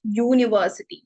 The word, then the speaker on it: university: And university alla, because university starts with U but pronounce it university.